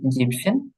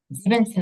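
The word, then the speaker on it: siebzehn: ঠিক আছে, জেকসেন হুম এবং এবং হচ্ছে জিপসেন। জিভেনসেন আবার বলা যাবে না। হ্যাঁ, এটা হবে জিপসেন। ঠিক আছে, যেখানে দেওয়া আছে। জিপসেন। হ্যাঁ, জিভেনসেন কিন্তু হবে না, এই যে এ এনটা কাটা যাবে।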